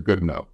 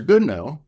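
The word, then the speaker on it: Goodenough: pretty smart guy professor goodno and by the way it's spelled good enough I think it's pronounced good no but it's good enough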